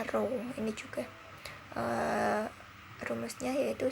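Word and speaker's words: rho: Ki lembaga dengan seperti huruf o ya Ini bacanya roh ini juga eh perumusnya yaitu Sigma XXI Medan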